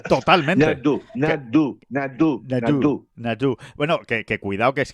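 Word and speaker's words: Nadaud: Y Nastasia Nadó. Totalmente. Nadó. Bueno, que cuidado, que es que... No tienes que pronunciar una U, pero poniendo boca de O.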